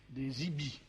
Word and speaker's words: EBE: celle de l'existence des IBI, EBE, prononcé à l'américaine, Ça, IBI. EBE, Parce qu'en français, les EB, ça serait bizarre. Non. Alors, on dit Gaïti, pourquoi pas Ibi?